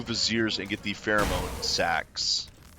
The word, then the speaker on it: vizier: Ah, it's a visor, supposedly. Or vizier, I guess is the proper pronunciation of it.